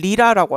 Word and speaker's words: Rita: And Hollywood legend Tom Hanks and his wife Rita Wilson infected. 그리고 지금 톰 행크스랑 리타 윌슨, 리타를 리라라고 하죠. 리더 뭐 이런 식으로 얘기하죠. 네, 가운데 T가 들어가면 발음을 디귿처럼 얘기해요.